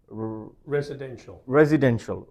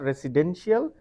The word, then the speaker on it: residential: College, but this word, the way you should pronounce this word is actually residential. So residential, so not residential, residential.